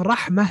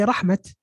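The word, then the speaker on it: رَحْمَة: So instead of ni'mah, they say ni'mat. Instead of rahmah, they say rahmat.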